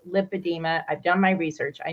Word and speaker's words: lipedema: Actually, I asked the nurse, because she kept telling me, you're saying it wrong. It's lymphedema. And I said, no, it's lipedema.